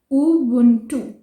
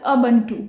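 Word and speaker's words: Ubuntu: India में usually we call it एज अबंटू, बट इट्स उबुंटू, उबुंटू, like this, उबुंटू।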